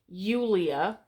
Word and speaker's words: Julia: So in classical Latin, it's Julia, and it's spelled with an I.